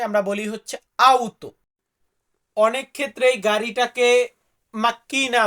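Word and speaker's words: auto: গাড়িকে আমরা কি বলবো গাড়িকে আমরা ইতালিতে বলবো লাউতো আসলে লাউতো শব্দটা আমরা বলি সব জায়গায় বাট লাউতোর সাথে কিন্তু কার্তিক যোগ আছে মানে সঠিক উচ্চারণে আমরা বলি হচ্ছে আউতো অনেক ক্ষেত্রে গাড়িটাকে মাক্কিনা উচ্চারণ করা হয় তো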